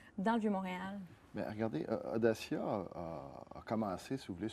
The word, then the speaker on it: Odacia: Audacia, simplement. Comme audace, c'est une audace.